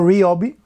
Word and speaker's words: Ryobi: The fact that Hart is taking a page from Ryobi, or Ryobi, as it's correctly pronounced, which is, again, the cousin of Hart.